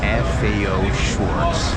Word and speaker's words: FAO Schwarz: No, actually FAO Schwarz. Schwarz or Schwarz. Let's see how the host here pronounces it.